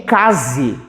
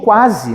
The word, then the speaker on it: quase: falo então aqui ó eu não digo Case eu digo quase né quase Passei no